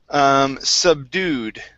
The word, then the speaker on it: subdue: Next up is the word subdued. The stress is at the very end of this word.